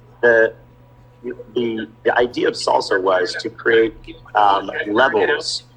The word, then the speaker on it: SLSA: so I've been diving into the concept of slca which was what I was pronouncing it as for a long time before I realized that oh W it's actually salsa and I was like that's really cool why